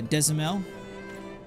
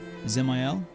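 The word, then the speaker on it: Dzemael: So, I I've been pronouncing it uh Desamel, but you're saying I should say it Zel. Ziel. So, the D is silent. Ziel. Oh, man. That's so easy to say. The D The D is just basically silent.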